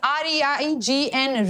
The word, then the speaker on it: reign: जैसे हम R-A-I-N pronounce करते हैं, similarly it's R-E-I-G-N reign.